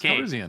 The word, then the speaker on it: Calrissian: Calrissian is how they say it in the movies.